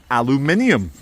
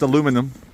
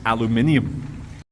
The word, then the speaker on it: aluminium: rust ladies and gentlemen the body's made of aluminium and no Americans it's not pronounced aluminum there's a second eye in it you don't